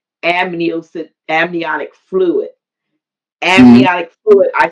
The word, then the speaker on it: amniotic: Uh, Ambionic fluid. Whatever it is, it's Mhm. amniotic. It's amnia because it's amniocentesis. So it's amniotic fluid.